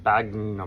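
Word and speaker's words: sphagnum: Spagnum moss.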